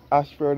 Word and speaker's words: Ayshford: And again, this Ashford is spelled A-Y-S-H-F-O-R-D.